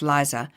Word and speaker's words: Lisa: After hiring Lisa, pronounced Liza, your confidence in your interviewing ability has plummeted.